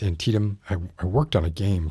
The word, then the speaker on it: Antietam: of antietam um which i for the longest time pronounced anti-adam uh i've been set straight it's antietam i worked on a